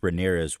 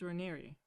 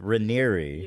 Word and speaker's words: Raniere: documentaries is that Keith Ramirez was like a very. You know that it's Raniere, right? I don't care. Yeah, apparently I've been saying it wrong. Keith Raniere Yeah.